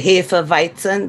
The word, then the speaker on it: Hefeweizen: Now, if you drink we say Hefeweizen, that's the way you pronounce it.